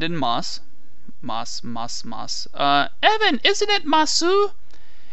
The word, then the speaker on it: ます: moss evan isn't it masu it is masu but when we're talking about sentence ending which are usually the moss they uh we don't pronounce that at the end it's just mas there's also the copula